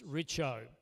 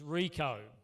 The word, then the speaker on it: Richo: The Canadians couldn't quite pronounce Richo. It came out as Rico.